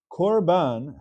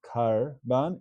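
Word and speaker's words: קרבן: There's a word called korban. Korban has a kamatz underneath the kuf. It's not pronounced karban, it's korban.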